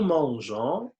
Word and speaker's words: mangeons: la fin E, nous mangeons. Ici, il y a une petite remarque, donc on doit ajouter un E pour prononcer le G de nous mangeons.